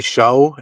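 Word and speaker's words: Shough: Is it Shug? Yeah, I've heard people say show and shug, so I don't know. Shug? Yeah, like shook, like with the K.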